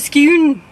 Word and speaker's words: Scone: we are off to skew spelt scone but pronounced skew so we're off to